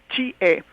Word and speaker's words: Chie: llenó Chie, se pronuncia, me puse a investigar cómo se pronuncia el nombre otomí de ella, es Chie, se apellida Bastida, Chie